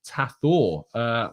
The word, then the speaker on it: Thato: Thato is pronounced Tathor. Wow.